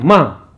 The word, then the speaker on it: ma: Dengan Ma. Tulisannya Ma, M-A, Ma. Cuma dalam pengucapan ada vokalnya, ada ngaungan di bagian belakang kayak mang, ada penamaan kayak ng. Tapi dalam tulisannya kita menulisnya dengan ma, ma.